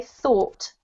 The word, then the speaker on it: thought: nerves huh but that's how it sounds okay thought yep and then this one is exactly the